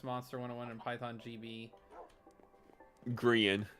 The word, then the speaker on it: Grian: Gran stress monster 101 and Python GB. Grian is how you say that one.